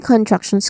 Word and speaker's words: contraction: three distinct sounds here starting with con which is a short o sound. Then truck which still has short vowel sound uh and then shan t i o n t i o n that is shun.